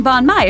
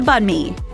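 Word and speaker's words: bánh mì: Avoid saying banh mi if you order one. Just remember it sounds pretty close to banh mi.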